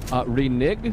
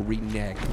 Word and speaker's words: renege: Renig? Renig is the colloquialism for reneg. You just said colloquialism. Colloquialism. And everybody knows it is reneg, right? Everybody can phone jail. That's how you say it.